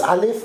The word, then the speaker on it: Aleph: Aleph ist ein Konsonant, ein lautloser, mhm, und pass auf,